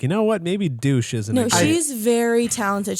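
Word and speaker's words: Deutch: How is that her last name? I actually think, to be fair, is it wrong? I think it's pronounced Deutsch.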